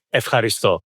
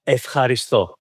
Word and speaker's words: ευχαριστώ: You say ευχαριστώ. Means thank you. It's a difficult one. Say it. Say it again. Ευχαριστώ. Ευχαριστώ.